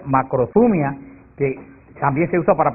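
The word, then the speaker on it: μακροθυμία: Hay otra palabra griega que se pronuncia macrothumia, que también se usa para paciencia, y son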